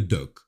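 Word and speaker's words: doek: ce fameux canvas là, ils l'appellent le doc. Je ne sais pas si j'ai le bon accent. En tout cas, ça s'écrit D O E K et nos amis américains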